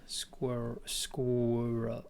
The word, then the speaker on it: squirrel: us shows said that i said it wrong like i spoke a w and that wasn't there squirrel squirrel that w squirrel